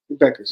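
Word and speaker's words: Bueckers: it buers Beckers the the you Ed is silent Beckers yeah beige Beckers so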